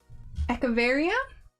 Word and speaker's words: Echeveria: All right, then we have a Monstera leaf and a Morning Beauty Echeveria, I think is how it's pronounced. I think the CH is like ek, not etch.